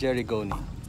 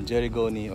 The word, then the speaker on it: Gerygone: Idagdag na rin natin sa listahan ang pipit bakaw or golden-bellied jerigoni. Nabasa ko sa Wikipedia na jerigoni or something like that ang pronunciation nun at hindi jerigoni.